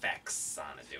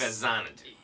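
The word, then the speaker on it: Faxanadu: Fazanadu. Fazanadu. I guess the X doesn't. It's not Fexanadu. Well, it's Fazanadu. Fazanadu. Like the movie Xanadu. Xanadu, but like a fa in front of it.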